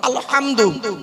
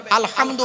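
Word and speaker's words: الحمد: আলহামদু, গলার ভেতর থেকে হে এটা উচ্চারণ করবেন। আলহামদু মানে হচ্ছে সমস্ত প্রশংসা তোমার আল্লাহ, সমস্ত প্রশংসা আল্লাহ।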